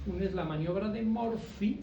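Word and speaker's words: Murphy: es la maniobra de morpi se escribe con pH y por favor La maniobra de morpi la pueden hacer en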